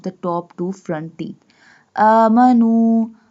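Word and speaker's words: آمَنُوا: Amanu. We stretch the alif because alif has fatha sign, standing fatha sign or vertical fatha sign.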